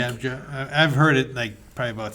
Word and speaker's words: Scabbia: I think it's pronounced Scabja, I think. Scabja.